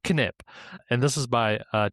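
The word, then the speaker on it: Knip: How we remove 28,000 lines of code one nip at a time or sorry sorry one kip at a time because it's pronounced kip.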